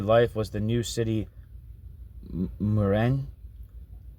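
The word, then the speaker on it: Mourenx: The negative model of society, the spectacle of daily life was the new city Moren. I guess that's how you say it. M O U E N.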